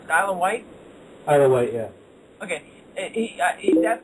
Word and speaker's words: Isle of Wight: How do you pronounce it? Isle of Wight? Isle of Wight, yeah.